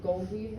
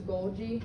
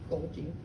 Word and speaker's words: Golgi: was saying this wrong i kept i said goldie apparatus right it's a golgi why did you guys not tell me how